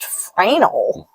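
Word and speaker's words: Fresnel: Lake Erie the original fral lens fral isn't that Fresno no it's not Fresno it's French it's pronounced fral we we whatever you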